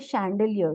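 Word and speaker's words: chandelier: या फूड के लिए यूज होते हैं जैसे सैंडलीय सैंडलीय जो झूमर जो हमारे घर में लगता है उसको सैंडलीय बोलते हैं इसका प्रोनाउंस एशन चैलियिल आइटम हो गया या फैशन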